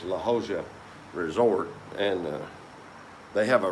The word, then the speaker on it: La Jolla: J spelled like it, pronounced like an H, and a double L is pronounced like a kind of an H sound.